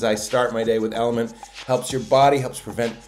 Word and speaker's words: LMNT: our friends at element lmnt pronounced element is healthy hydration it's